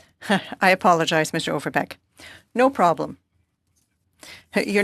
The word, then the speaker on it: Overbeek: I would like to say that the pronunciation of my name is Overbeek. I apologize, Mr. Overbeek.